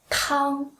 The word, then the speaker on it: 汤: And if you go to the restaurant, you ask for 汤, first tone, it means soup.